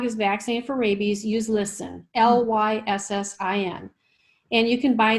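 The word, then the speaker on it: Lyssin: when your dog is vaccinated for rabies use listen l-y-s-s-i-n and you can buy this in no-sews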